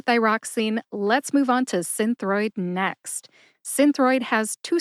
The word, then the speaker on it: Synthroid: I say it again Synthroid Synthroid see I think the emphasis is on sin my source for the